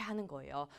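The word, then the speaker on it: ح: 제 가 발음 해 드릴 테니 , 잘 따라 해 주세요 . 하 , 한 번 더 . 이렇게 , " 하 ." 겨울 에 창문 에 김을 서리게 하는 것 처럼 하면 아주 비슷한 소리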